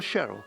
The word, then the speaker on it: Sherwell: Once over the stile, we'd head for Sherwell, or Sherrill as it's pronounced.